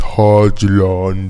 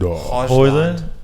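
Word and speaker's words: Højlund: Actually, I watched the video and he said it's Hodgland. Hoyland? It's not Hoyland? Hodgland. The video, he said Hodgland.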